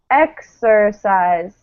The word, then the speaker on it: exercise: What happens to this vowel here in the ER? Exercise. The E turns to E. Yeah, it turns to the schwa, right? The neutral vowel.